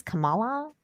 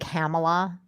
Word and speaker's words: Kamala: of that news article how do you pronounce kamala kamala because like joe biden calls her like hamilah camel camella camallo sometimes he calls her